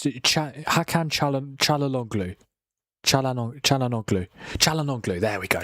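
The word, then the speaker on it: Çalhanoğlu: Is Chalalonglu. Am I saying it right? It's Hakan Chalalonglu. Chalanoglu.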